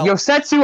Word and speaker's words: Yosetsu: there's something to talk about with koda okay yosetsu allah say the welder thank you thank you for pronouncing his name because i didn't know how